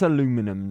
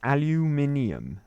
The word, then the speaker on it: aluminium: getting more comments on uh how I say aluminium uh which is the correct way none of this aluminum nonsense it's aluminium that's how it's said that's the correct way to pronounce it right um are we going in